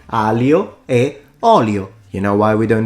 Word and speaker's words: aglio e olio: Why wouldn't just we remove the G and say aglio e olio? You know why we don't do that? Because it's not just an L. So he doesn't know how to pronounce the GL.